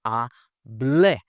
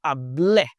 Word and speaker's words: hablé: Okay, whereas here with an accent, now we have hable. I always tell my students to kind of jump, right? Hable.